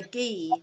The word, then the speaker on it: gi: professional karate suit now which is called a ghee which is spelt gi um and it's literally a lot